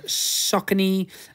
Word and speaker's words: Saucony: were a pair of Saucony uh running shoes Saucony a lot of people call Saucony but it is Saucony and it is pronounced literally like sock and knee yeah that's what that's